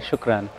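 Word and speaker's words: شكرا: Shukran.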